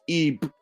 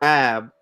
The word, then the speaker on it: ib: The ancient Egyptian word ib, pronounced ib or ab, translates as heart, but texts show it functions as mind, conscience, will, and memory.